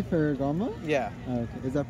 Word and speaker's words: Ferragamo: Does that say Ferragamo? Yeah. Okay. Is that pronounced correctly?